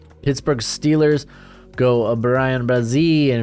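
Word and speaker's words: Bryan Bresee: Pittsburgh Steelers go Brian Brazil, and if you got a problem with the pronunciation, take it up with Clemson's website. That's how they have it pronounced.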